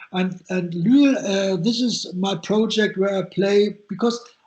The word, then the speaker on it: Lüül: It's I know it's unusual because it's a U with the 2 points, and it's Lüül.